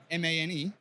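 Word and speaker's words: Mane: Well, so ADM, I went from ADM to Man, M-A-N-E. Maine, different flavor Gucci company. Maine. It's pronounced Man.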